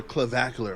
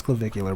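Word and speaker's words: Clavicular: Ever in the world and now he is fanboying over Clevacular. All right. So know the nigga weird but you can say his name right, man. It's Clevicular, bro.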